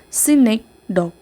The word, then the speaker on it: synecdoche: So this synagogue is pronounced as synecdoche.